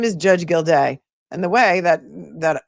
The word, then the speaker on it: Gildea: I don't know why so many people have such a hard time pronouncing this man's name. His name is Judge Gildea.